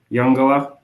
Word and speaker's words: Uungula: project is at um the name is pronounced younga um and it it